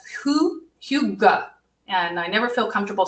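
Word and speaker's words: hygge: have a little practice with this but it's it's spelled differently than it sounds it's Who Hugo and I never feel comfortable saying it but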